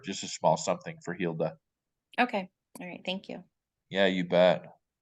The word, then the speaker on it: Hilda: staying with you and how do you pronounce your name again Hilda Hilda h-i-l-d-a is the pronunciation okay is she the